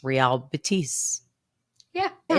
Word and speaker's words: Betis: dudes sitting next to us were talking about Bettis, but they might have just been being funny. Like I was legit. I had no clue how you pronounced it. So yeah, so that was cool. It's Real Betis.